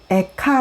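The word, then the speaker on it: איכה: 입니다 10 은 이어 로 에카 라고 하는데 우린 말 에 가 랑 비슷한 발음이 줘 12 리어 뜻으로 메카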